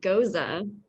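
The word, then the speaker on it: Gose: really good um so the second course this goza i'm pronouncing it correctly right i just learned it's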